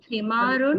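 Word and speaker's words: حمارٌ: Yes, please pronounce ending sounds because ending sounds are very important when we learn grammar. Himarun.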